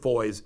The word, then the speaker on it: Foy: I think I am personally responsible for Bishop Foy's resignation because all the things that I've blown the whistle on about him. Bishop Foy's rhymes with boys.